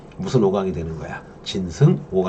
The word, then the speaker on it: 진승: 진승이란 짐승이 아닙니다. 발음을 잘해야 돼요.